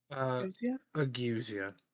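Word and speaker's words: ageusia: How do you pronounce it again? Agusia.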